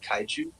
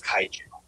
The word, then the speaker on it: kaiju: I think she's not questioning your pronunciation of Kaiju.